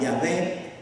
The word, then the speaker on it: Yahvé: aparece después las las se pronuncia yahvé pero aparece sin las vocales pero realmente vamos a